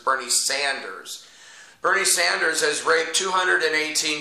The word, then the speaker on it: Bernie Sanders: It's not Bernie Saunders, it's Bernie Sanders.